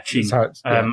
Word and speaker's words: Qin: there was the, I'm going to get the pronunciation wrong, but the Qin Dynasty, I think. Yes. Yeah, Qin.